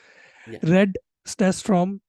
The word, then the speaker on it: Red Stafstrom: description of this video Read stats from I again butchered your name I'm sorry about that no you actually got it right like staff storm was